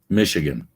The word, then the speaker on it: Michigan: Michigan. It's pronounced Michigan. USA. There you go. So think of it as M-I-S-H, not C-H.